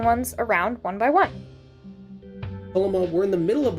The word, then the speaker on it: Tolema: Pronounced Tolema, if you're bad with your Enochian.